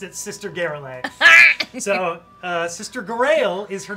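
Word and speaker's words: Garaele: To Sister Garrelay or Garael. Garael? I've run this campaign so many times, and I know how it's spelled, but I always pronounced it Sister Garrelay. So, Sister Garael is her name, though.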